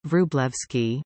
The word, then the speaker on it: Wróblewski: Andrzej Kajetan Wróblewski, Polish pronunciation, Wróblewski, born 7 August 1933 in Warsaw, Polish experimental physicist, ordinary professor Dr.